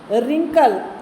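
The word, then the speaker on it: wrinkle: रिंकल, डब्ल्यू को छोड़ के रिंकल, रीगल, राइट।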